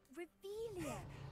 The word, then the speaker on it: Revelio: Revelius! You're saying it wrong! Ugh! Revelio. Much better.